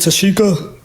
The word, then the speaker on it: Tashika: So, and then how do you pronounce? Is it Tashika?